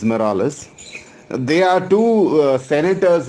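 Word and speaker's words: Marullus: you have flavius and morales okay the spelling is m-a-r-u-l-l-u-s but the pronunciation as far as i know as i was taught is morales they are two uh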